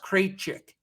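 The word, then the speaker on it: Krejčí: out for oklahoma city cratchick cree creachiki i don't even know who this is vic create chicky i don't that's definitely pronounced crate chick k-r-e-j-c-i i should know him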